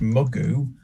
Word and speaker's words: mugu: Even though the OEs are both OEs, it's pronounced mugu.